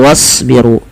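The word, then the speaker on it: واصبروا: kita ini juga sama jangan dibacausbiru tapi langsung wasbiru dan tebalkan pada lafal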